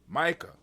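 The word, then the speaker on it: Maika: And the younger one name is I think it's pronounced Micah. Malik. No, she spelled M-A-I-K. Hold on, where is it at? My eyes. Oh, my eyes. Lord have mercy. M-A-I-K-A. Micah.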